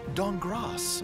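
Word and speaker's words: Dankgrass: team Amy Falcone's walnut dong cross the K is silent create the best venturing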